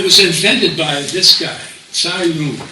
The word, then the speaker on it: Cai Lun: It was invented by this guy, Cai Lun, sometimes pronounced Kai Lun, in 105 AD.